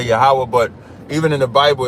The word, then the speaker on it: Yahweh: In Hebrew, his name is Yahweh. That's how we pronounce it.